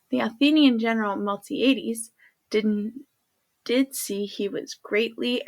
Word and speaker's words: Miltiades: The Athenian general Miltiades, sorry about that, I had to check my pronunciation. The Athenian general Miltiades did see he was greatly outnumbered.